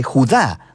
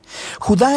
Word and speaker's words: Judá: la carta de Judas o más precisamente Judá de acuerdo con la pronunciación de su nombre tanto en griego como en hebreo Judá Era uno de los